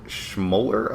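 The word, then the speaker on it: Schmoeller: The movie was made for pretty cheap, and director David Schmoller, I believe is how you pronounce that name.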